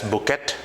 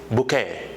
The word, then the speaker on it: bouquet: Because of spelling, you must mispronounce this as bouquet, etc. But the correct pronunciation of this term is bouquet.